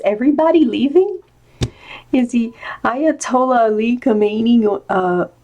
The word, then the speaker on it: Khomeini: leaving if the ayatollah khomeini know how meny I keep saying pronouncing it wrong I don't think that you don't pronounce the cake Khomeini is he also leaving